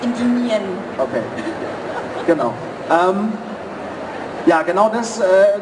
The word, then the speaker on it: Endymion: Also hauptsächlich um die Betonung. Okay. Ist halt das eine auch mit O und jetzt das andere mit IE. Genau. Endymion und jetzt ist es Endymion.